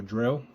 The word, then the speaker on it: Dreo: This is a portable heater by, I forgot what they're called again, Dreo, or Dreo, as it's pronounced.